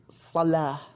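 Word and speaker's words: صلاة: The example is the word salah.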